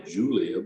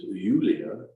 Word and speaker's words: Julia: Her name is what English speakers would say Julia, but in German it's Julia.